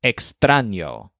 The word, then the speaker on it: extraño: is in my wall the word for strange is extraño with a stress on bran kind of like a train sitting in one of the cars of this train is a tiny